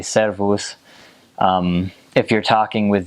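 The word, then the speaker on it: szervusz: um select that I need to make sure to roll your r's when you speak Hungarian so they say servos um if you're talking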